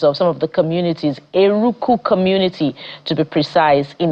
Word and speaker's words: Eruku: The community is pronounced Eruku.